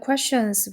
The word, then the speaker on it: question: 그래서 the questions 부분이 목적어로 왔고요. 여기도 이제 q유 가르쳐 보면 이것도 퀘라고 읽으면 안 됩니다. 이게 아니고 쿠우 발음이에요. 여기 보면 k크 w우에서 쿠우 발음 기 있죠. 그래서 question이라고 읽어 돼요.